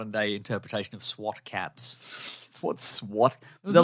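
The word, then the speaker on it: SWAT Kats: of his production company it's cats with a K by the way oh we know do we yeah yeah also it's pronounced SWAT cats SWAT cats great anyway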